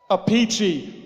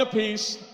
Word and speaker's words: Appice: brother Frank is here how does Frank pronounce the last name let's settle this right now he's the deciding factor come on a peachy Frank a peachy Carmine Appice Vinny Appice E let's let's have a vote let's have a vote bye applause who likes the pronunciation pedo let's hear for a peachy a piece a passe carmine and Frank can